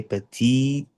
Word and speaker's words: petite: When you write, I know you're choosing this option, but when you're speaking, the t has to sound absolutely correctly and accurately.